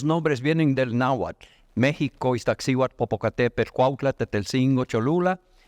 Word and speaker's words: Iztaccíhuatl: Bueno, luego la Iztaccíhuatl, ellos no dicen Iztaccíhuatl, dicen Iztoccíhuatl. Esa es su forma de pronunciar esa palabra.